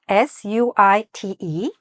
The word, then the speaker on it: suite: The fire department just told them to stay in their apartment or their suite." And this word, even though it's spelled s-u-i-t-e, it's pronounced like suite.